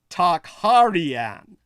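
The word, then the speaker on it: Tokharian: to tochoa which some Modern Scholars record as talk heartian t-o-k-h-a-r-i-a-n the actual Tong era pronunciation of is tegar as best as it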